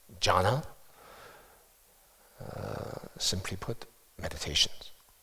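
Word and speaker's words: Jhāna: Dhyana, Pali, is pronounced jhana, simply put, meditations.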